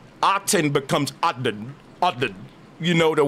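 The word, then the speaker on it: Aten: inflectional uh uh origins it would have been pronounced guide. You say God today just like the god Odin is the pharaoh. Autton. A T E N. Pharaoh Autton.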